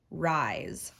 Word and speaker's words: rise: word rise very good even though there's the letter s we know it can make that z sound rise let's write it and